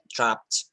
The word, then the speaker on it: dropped: um we have um the Ed is pronounced as T dropped dropped okay repeat after